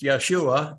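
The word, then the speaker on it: ישועה: thus saith the Lord keep you judgment and do justice for my salvation that's interesting word salvation there it's pronounced Yeshua and that's 344 in the strongs for my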